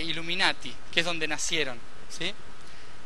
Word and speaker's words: Illuminati: entendido los verdaderos mensajes los iluminados en italiano se dice Illuminati que es donde nacieron